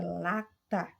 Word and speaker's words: lata: Na palavra lata, observe aí que o lá se destaca mais do que a sílaba tá.